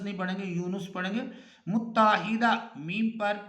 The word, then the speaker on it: یونس: اگلا لفظ ہے یونس، یونس نون پر پیش پڑھیں گے تو تلفظ ٹھیک ہوگا، یونس نہیں پڑھیں گے، یونس پڑھیں گے۔ متحدہ میم